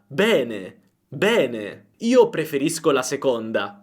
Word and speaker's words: bene: Bene. Però se vai in Toscana, vai a Roma o in altre regioni d'Italia, la pronuncia sarà aperta. Bene.